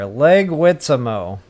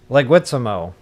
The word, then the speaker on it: Leguizamo: Wait, you gave me a pronunciation key. See? You're saving me here. Leguizamo. Leguizamo. Leguizamo. Linguini with a Z was not far off.